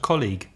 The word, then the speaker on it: colleague: needs and another e a word colleague called colleague and also the problem of the GU e at the end the word is about